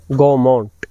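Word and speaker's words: Gaumont: देना जरूरी है कि यह जो नाम है गोमट असल में यह फ्रेंच भाषा का नाम है और इसका वास्तविक उच्चारण प्रोनंसिएशन जो है वह है गोमू और यह गोमू जो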